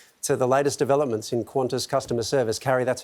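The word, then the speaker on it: Qantas: Could you cover everything from wars and revolutions to Kim Kardashian breaking the internet to the latest developments in Quantis customer service?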